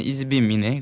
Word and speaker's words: ISBIM: 뭐 굳이 한국말로 이렇게 발음을 하면은 이즈빔이네.